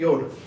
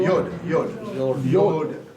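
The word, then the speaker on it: יוד: ये सब आता है, उसका अर्थ है योड, क्योंकि वो परफेक्ट नंबर है। इसको प्रोनाउंस क्या प्रोनाउंस करेंगे इसको? योड। कुछ कोई बोल रहे थे यूड बोलते हो, लेकिन योड है।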